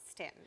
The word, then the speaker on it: Staunton: Is it Stanton or Staunton? He goes, Stanton.